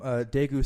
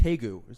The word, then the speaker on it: Daegu: So I am from Daegu, South Korea. Daegu. Also pronounced Taegu. You can spell it with a D or a T.